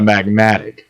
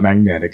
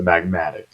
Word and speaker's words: magmatic: Or so I've been saying it wrong. It's the magmatic, not magnetic. It's the magmatic, which makes sense.